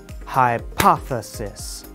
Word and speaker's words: hypothesis: part of the word to clarify this point hypothesis hypoth thesis the work we have done today is very